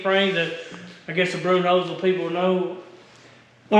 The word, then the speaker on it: Bernheisel: Is it how do you pronounce it? Bernheisel? Bernheisel. Bernheisel.